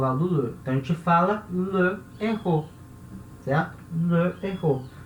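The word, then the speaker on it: le héros: Só que errou é uma palavra com H aspirado. Então a gente não vai tirar a vogal do le, tá?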